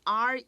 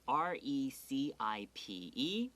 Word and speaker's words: recipe: They're spelled almost alike, but they're pronounced completely differently.